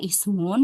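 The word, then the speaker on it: اسم: Kemudian di sini juga sama ismun enggak bisa lihat dari huruf ketiganya ya. Tapi pokoknya kalau ada kata ismun hamzah wasan dibaca kasrah ya.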